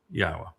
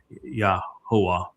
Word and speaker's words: Yahweh: It's YAHOWAH in this song, and that is incorrect because the yod makes an E sound in English as it does in Hebrew, and the ah sound is from the hey.